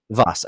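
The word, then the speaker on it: Vaas: have the antagonistic game i don't even know vos okay that's how you pronounce it i was seeing it vos it's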